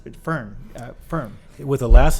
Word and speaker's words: Firn: Actually, I pronounced it Firn.